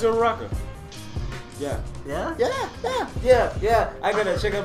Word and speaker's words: Uraraka: No, it's Uraraka.